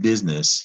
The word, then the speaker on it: business: of being very busy it's pronounced business you don't hear that i in a business as